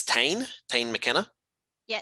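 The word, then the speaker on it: Tāne: can understand that because it is sometimes written tane t-a-n-e and in new zealand that's tane the forest so there was kind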